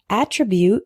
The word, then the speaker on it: attribute: alternate the next one is attribute and attribute attribute is a noun meaning a characteristic of something